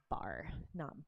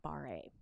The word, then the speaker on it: barre: ballet bar you'll see it's spelled b-a-r-r-e but it's pronounced bar not bar-a so if you're in